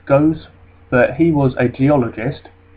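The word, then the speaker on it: Gosse: Now we've got this chap here called Philip, I think that's pronounced Goes, but he was a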